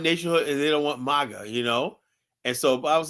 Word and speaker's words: MAGA: It's just the right way to pronounce it. It's Maga. It's not Mega.